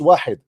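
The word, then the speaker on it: واحد: how to say it it is not wahad it's wahid now listen how how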